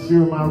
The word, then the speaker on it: Schurmier: We're at 4251 Schurmier Road. Schurmier is spelled S-C-H-U-R-M-I-E-R, Schurmier Road, Houston, Texas, 77048, USA.